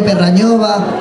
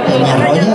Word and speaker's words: Peñarroya: tenemos músicos de Romanos de Villanueva, Dos Torres, Perrañova o... no, Peñarroba, ¿no? Pero bien. Es que hay que, con el fresquito que hacía esta mañana, la calor que hace ahora, ¿eh? ¿Cómo se dice? Peñarroya, si lo había dicho bien, no sé para qué.